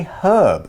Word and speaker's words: herb: the UK we say herb and we pronounce that H in the States they tend to say herb and leave off the H sound in Canada they would